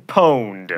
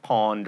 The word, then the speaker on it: pwned: I'm sorry, Steve Wilhite, but you've just been pwned. Not pawned or pweened.